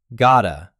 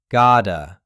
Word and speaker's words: gotta: Gota. The tt sounds like a quick soft d. Gota. Gota relax.